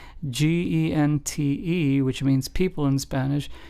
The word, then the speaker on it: gente: So, gente, g e n t e, which means people in Spanish, is pronounced as gente, like if it started with an H in English.